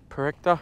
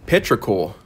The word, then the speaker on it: petrichor: I think it's Perecta. I don't know if I'm pronouncing it correctly. I'm probably pronouncing it 100% incorrect. Well, I have found out since then that it's actually petrichor.